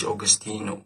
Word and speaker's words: Augustineo: Like you spell Augustine, but I add the O. I don't forget the O. O standing for the. But it's Augustineo. Like the streets nickname me as.